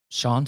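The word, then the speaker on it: Siân: pronounce this name mate It's s i a an I say Sha but Shan Sean son Sean I think Sean yeah Sean Richards and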